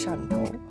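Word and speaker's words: Shantou: Swatau is the English word for my the English word for the the dialect pronunciation of my hometown. So, my hometown in China is Shanto.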